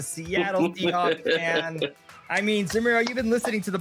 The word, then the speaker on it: Zemero: One of our editors, Zemero, is here. He rhymes with my name. He's a Seattle Seahawks fan. I mean, Zemero, you've been listening to the podcast.